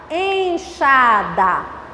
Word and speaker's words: enxada: O X também vai ter som de CH quando ele vem depois do EM. Tia, preste atenção. A enxada. É com X, o som é de CH.